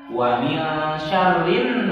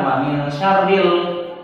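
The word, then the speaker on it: وَمِنْ شَرِّ: Alif lamnya nggak dibaca. Wa min syarrin langsung ke nun ya. Jadi bukan wa min syarril ya.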